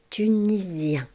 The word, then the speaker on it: tunisien: Vous avez remarqué ici la lettre S va se prononcer Z. tunisien. tunisienne. La règle générale est que le S en français va se prononcer Z quand elle est située entre deux voyelles.